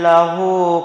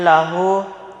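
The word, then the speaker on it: لَهُ: Lahu di situ cara membacanya dipanjangkan selama 2 harokat.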